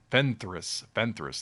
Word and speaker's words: Fenris: Fenris, that's what it is.